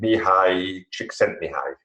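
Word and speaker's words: Mihaly Csikszentmihalyi: name because his name is very difficult to pronounce. He is called Mihai Csikszentmihalyi.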